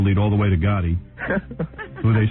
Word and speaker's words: Gotti: You know Gotti rhymes with nude body?